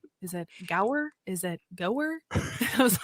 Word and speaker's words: Gower: guest on today and his name is Brian go I hope I did not completely like just